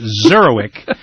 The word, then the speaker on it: Zurawik: David zurk z a w i k pronounced zeroic is is with us again today he's the